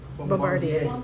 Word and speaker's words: Bombardier: Bombardier um in global manufacturing work followed by a decade at CBPH business uh bringing business experience into healthcare.